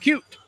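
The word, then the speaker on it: Keup: The phonetic spelling in the media guide has it ending in a T. Really? Even though his name ends in a P. K-E-U-P. Yep. Pronounced Cute.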